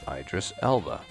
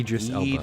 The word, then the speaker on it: Idris Elba: Idris Elba or Idris. How do you say that name? Idris Elba.